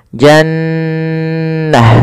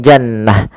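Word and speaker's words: جنّة: Cara membacanya adalah suara nunnya ditahan dulu nnya jannah. Tidak langsung jannah.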